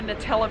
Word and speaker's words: Nutella: So we asked for a Nutella pizza, and the way you pronounce Nutella here is Nutella.